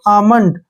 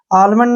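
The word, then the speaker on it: almond: देंगे ठीक है ना एल को नहीं पढ़ेंगे इसको पढ़ेंगे हम आमंड आलमंड नहीं पढ़ना है आमंड ठीक है ना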